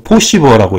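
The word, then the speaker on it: Posiva: 그래서 어쨌든, 이 POSIVR, 여기서는, 이거 포시버라고 읽어야 돼요.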